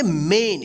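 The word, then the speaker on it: main: आई एन क्या पढ़ेंगे मेन यहां पे देखिए रूल में था कि ए के जस्ट बाद आई या वाई रहे तो यहां पे देखिए ए आई आया है ठीक है तो इसका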